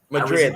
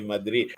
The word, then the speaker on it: Madrid: Madrid, that's right. Madrid. Awesome. I can say it right because I am. My mom's family is from Mexico, so I can say Madrid, even though the Spanish in Spain is a